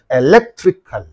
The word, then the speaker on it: electrical: electrical soal is there the suffix is in this syllable and in this syllable therefore what is the syllable preceding the suffix means this one only therefore electrical electrical right and the next again